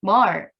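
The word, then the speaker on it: myrrh: 먼 몰 약은 미 그때 제가 미르 라고 하는데 위주가 아니라 뭘 이라고 발음을 합니다 외서 2 신앙과 악플러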